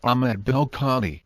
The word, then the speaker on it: ben el-Kadhi: Thus Ahmed or el-Kadhi is a partly Berber form, the Arabic form being Ahmed ibn el-Kadhi or Ahmed ben el-Kadhi, pronounced Ahmed bel-Kadhi.